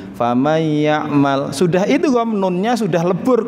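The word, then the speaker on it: فَمَنْ يَعْمَلْ: Kita membacanya ya enak saja, faman ya'mal. Apa sudah benar? Ternyata belum. Belumnya di mana? Di situ simpelnya baru idgham, tetapi belum gunnah. Famay ya'mal.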